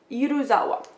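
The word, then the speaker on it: Yuzawaya: small compared to the uza uzawa yuzawa I always say that name wrong it is uzawa the uzawa store that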